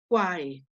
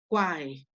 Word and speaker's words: quae: Entonces ahí diría quae, quae, ¿no? Esa Q y esa U se considera una sola consonante, entonces es monosílaba.